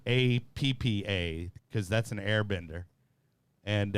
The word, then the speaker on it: APAA: oppa is okay so it's it's uh we pronounce it appa but that's that's but i think a lot